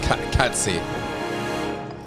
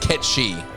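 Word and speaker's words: Cait Sith: Got enough hangers on already, but No, it's pronounced Ketchi.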